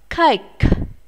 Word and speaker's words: cake: Cake. Cake. Các em lưu ý, cake là bánh và các em phải phát âm âm k này ở cuối của từ nhé. Chúng ta sẽ phải bật hơi ra.